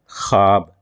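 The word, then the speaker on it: خواب: इस वजह कहते हैं जिसको पेस के साथ पढ़ा जाता है उसकी आवाज अदा नहीं होती जैसे ख्वाब लेकिन पढ़ा गया ख्वाब यहां साइलेंट है इसलिए हम इसे भाव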